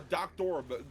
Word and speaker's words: Doctorb: ad 1600 doctor a doctorb going to explain that the B is for bargain and is pronounced doc torb okay that a that